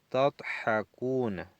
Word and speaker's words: تضحكون: Antum tadhakuna. Entonces tenemos el verbo aquí, 3 letras. Y aquí el prefijo verbal y el sufijo verbal. Segunda persona, plural masculino. Lima tadhakuna. La da, pronuncien la da.